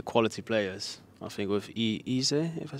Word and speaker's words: Eze: I think with Eze, if I say it right. Eze. To be correct, Eze.